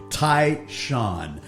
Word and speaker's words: Tai Shan: Tai Shan, our guest.